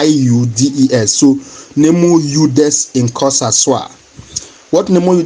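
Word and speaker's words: judex: maxim known as neu udes in Kosas. Please the spelling is ju J u d e x but the pronunciation is y u d e s.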